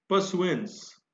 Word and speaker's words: pursuance: परसुएंस, परसुएंस यहां भी are silent है।